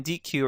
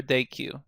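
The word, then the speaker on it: dequeue: on Q and then D Q or day Q depending how you pronounce it so we have the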